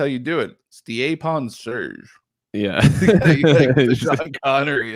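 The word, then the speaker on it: Stjepan: So apparently that's how you say his first name is Stiepon. Right. His last name, though, how do you think it's pronounced?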